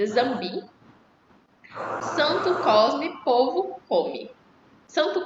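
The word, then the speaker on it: Nzambi: Então, é, embora esteja n zamb, mas se pronuncia zamb. Então, eh, engar com Zambi.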